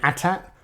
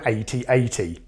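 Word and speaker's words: AT-AT: pronounce the Imperial Walker is it an attack or an 8080 right it's ridiculous now I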